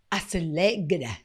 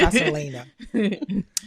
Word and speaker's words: Aselena: And of course, I have Aselegda. I'm trying to put the hard G in there. I know it's Aselena, who is basically the engine behind everything that goes here.